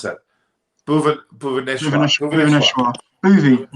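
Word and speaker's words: Bhuvneshwar: It seems like Bhuvanesh Kumar looks like. How do you pronounce that? Bhuvaneshwar.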